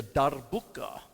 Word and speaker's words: darbuka: And this is a darbuka. Try and roll your R.